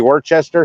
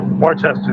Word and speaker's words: Worcester: And you're saying, is that supposed to be Worcester?